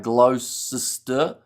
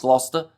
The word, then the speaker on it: Gloucester: Gloucester, pronounced Gloucester by Americans. It's pronounced Gloucester.